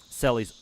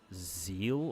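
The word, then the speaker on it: Seele: Back when I first started playing Star Rail, I think I pronounced Selly's name as Zeal, or how did I pronounce it? I forget at this point. And I had some dude come into my chat and tell me, no, her name isn't pronounced like, you know, so and so, or however I pronounced it back then. It's Selly.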